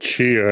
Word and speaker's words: Tchia: Yes, it's called Tchia, and I only know that because the helpful